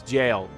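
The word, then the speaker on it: gaol: that's how it's pronounced it's not goal it's jail which is so weird to me i don't know why it's pronounced that way but old timey times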